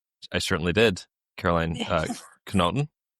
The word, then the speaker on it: Karoline Knotten: Caroline Kenoton. I got it right that time. There we go. Not the American pronunciation. The Norwegian pronunciation.